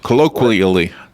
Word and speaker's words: colloquially: Colloquially.